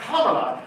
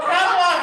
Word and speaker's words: Kamala: Oh, Kamala Harris's Coffee Hour? Yes. Yes. Yes, that is what this is called. Say it again. Kamala, not Kamala, Kamala. Say it right.